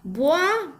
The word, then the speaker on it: buah: So buah, B-U-A-H, we pronounce as one, pronunciation.